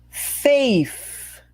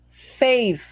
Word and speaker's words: faith: Faith. Faith. Cuidado com o TH. Língua no meio dos dentes. Sopra o ar para fora.